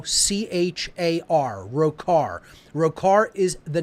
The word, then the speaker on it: Rokahr: Church of Satan under an assumed name of rokahr which is spelled r h o CH AR row car row car is the